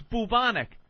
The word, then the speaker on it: bubonic: It's pertaining to a bubo or bubos, which are the sores on you, where the word boo-boo came from, by the way. Bubo, so it's bubonic.